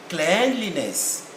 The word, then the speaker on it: cleanliness: is no longer clean it is now cleanliness phonetics will tell us can you hear that cleanliness and in the states cleanliness the same cleanliness so there is no cleaning it changes the sound because of the two suffixes we have added at the end of clean so this is about